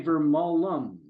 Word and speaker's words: Vermolm: Like It is Vermolm, but you say Vermolum, like another Vermont, syllable on the end, right?